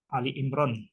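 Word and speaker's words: Ali Imran: Ali Imron keluarga Imron Ali Imron ini sering Salah bacanya Jadi kalau surat itu kan banyak yang menggunakan all Jadi kalau tidak jadi menggunakan alat dan tidak jadi al-baqarah al-maidah an-nisa itu pakai tapi ini surat yang ketiga itu istimewa bukan pakai all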